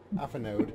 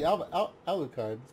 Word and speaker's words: Alucard: Alphanude. It's basically Alucard. Alphanude. Nope. Alucard. That's French, you don't pronounce anything. Literally nothing. None of the letters are used.